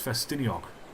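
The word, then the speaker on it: Ffestiniog: a noise like festin like it's spelled festiniog but there's a oh to the end there festino or Langan the but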